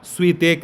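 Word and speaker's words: Świątek: Women का जीता है एगा स्वीतेक ने, ठीक है, एगा स्वी, अब इसका प्रोनाउंसिएशन जो क्या होगा देख लीजिएगा, स्वेतेक, ठीक है।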